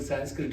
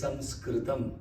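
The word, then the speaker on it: संस्कृतम्: The word Sanskrit itself is an incorrect pronunciation. It is Sanskritam. It is not Sanskrit.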